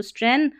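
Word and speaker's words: strengthen: एन जुड़ गया तो स्ट्रेंथन और थन स्ट्रेंथन पढ़ दे इसको थेन पढ़ दे टी एच ई एन को और जी है ना यह साइलेंट है स्ट्रेंथन में स्ट्रेंथन योर स्ट्रेंथन का मतलब मजबूत करना।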